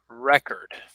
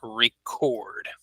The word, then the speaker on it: record: if we use it as a noun we pronounce it as record okay so I'll put that here on the screen so it's a noun it's a record and then a as a verb it is record okay so I will mention that here okay